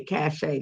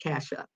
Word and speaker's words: Kasha: So it's long A, Kasha, not Kasha.